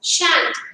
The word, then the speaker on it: shan't: The pronunciation, mark pronunciation, it is won't. Will not, won't. Shall not, shan't. Shall not, shan't. It's shan't.